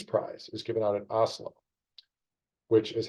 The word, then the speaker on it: Oslo: But the peace prize is given out at Oslo, which is how I am told I should be pronouncing Oslo.